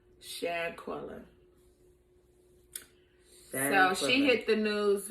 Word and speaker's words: Shanquella: Shanquella.